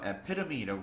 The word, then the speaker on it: epitome: epitome라고 발음을 해요. P에 강세가 들어가서 epitome 이렇게 발음을 하는데 이거는 뭐뭐의 절정, 화신, 전형적인 예라고 할 때 저희가 쓰는 아주 고급 단어입니다.